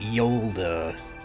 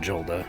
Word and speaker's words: Yola: want to remember Yola you pronounced it Yola not Jola okay so I imagine